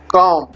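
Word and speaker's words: calm: কাম, কাম মানে শান্ত, এলের উচ্চারণটা হবে না, সাইলেন্ট, নিঃশব্দ।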